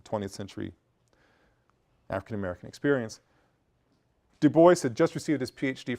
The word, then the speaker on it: Du Bois: Du Bois, someone who, a lot of you may see Du Bois, you see the name, it's Du Bois, that's the way his family pronounced it.